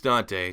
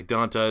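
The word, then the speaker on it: Dont'a: It's Dante. Dante is how I say it because that's how it's spelled, but it's pronounced Dante Hightower.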